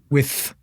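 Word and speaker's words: Wythe: that the with house the with house w y t h e yes with or why the why the why the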